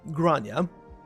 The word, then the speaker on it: Grania: said he called ripofy and yes that is apparently how you pronounce that name there with the starting with a G grania hmm no Ronan don't